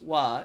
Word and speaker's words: wa: In Japanese, the word pronounced wa is a particle that follows the subject of a topic or sentence.